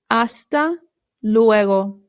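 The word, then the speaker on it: hasta luego: Aasta leego means see you later. Very good. Remember the H in Spanish is silent.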